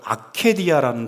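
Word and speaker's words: ἀκηδία: 나태를 뜻하는 그 헬라어와 라틴어가 똑같은 발음인데요. 아케디아라는 단어예요. 아케디아. 근데 그 뜻이 관심 없음이에요.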